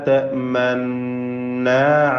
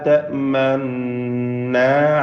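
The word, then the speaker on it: تأمنّا: മനു എന്ന് പറയുമ്പോൾ റൗണ്ടായി വരുന്നത് പോലെ ചുണ്ട് വെച്ചുകൊണ്ട് ഹറക്കത്ത് അല്പം പോലും വ്യക്തമാക്കി ഉച്ചരിക്കാതെയും ഷദ്ദുള്ള ഉദ്ഗമായ മണിച്ചുകൊണ്ടുള്ള നൂനിനെ മാത്രം ഉച്ചരിച്ചുകൊണ്ട് ഓതുക. അതെങ്ങനെയാ? ലാ തഅ്മന്ന അലാ യൂസുഫ്.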